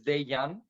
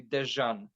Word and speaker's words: Dejan: based in Poland so where I'm coming from the letter J it's pronounced yeah and my name is daiyan but people every very